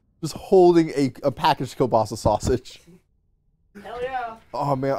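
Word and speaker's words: kielbasa: man i love everyone i've always pronounced kobas kobas i don't know that's how we've always pronounced my family well your your family's wrong i'm at the church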